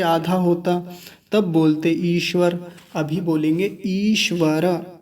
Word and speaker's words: ईश्वर: कुछ लोग बोलते हैं ईश्वर, ईश्वर ऐसे, यानी छोटा ई लगा के बोलते हैं कि ईश्वर हमारी बात सुनता है, ईश्वर ऐसा है। ईश्वर नहीं होता, ईश्वर होता है। और यहाँ चूंकि हम संस्कृत में मंत्र को समझ रहे हैं तो रेफ पूरा है, यानी र जो है वो पूरा है। तो क्या बोलेंगे?